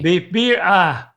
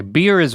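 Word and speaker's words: birria: Beef birra.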